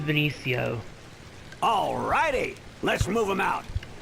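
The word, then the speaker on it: Veniccio: to the next area which is Benicio or vinicio however you want to pronounce it I pronounced it Benicio alrighty let's move him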